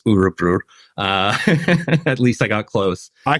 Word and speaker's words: Örebro: He's had a hell of a season with Örebro, and that's how it's pronounced, Örebro.